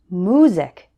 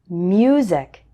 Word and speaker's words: music: Some English learners pronounce this word like music instead of music. Can you hear the difference?